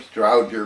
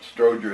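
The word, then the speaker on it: Strowger: remember the pronunciation well an awful lot of people including myself used to call them stroudder but Stroger is a proper pronunciation these were off that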